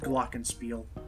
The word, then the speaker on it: glockenspiel: for James just so James is aware for pronunciation it's called glockenspiel glockenspiel gosh a steel blockage thank me later